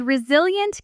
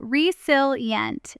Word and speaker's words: resilient: Now at natural speed with the correct stress meticulous and resilient carries its stress on the second syllable. Reilient slowly you resilient.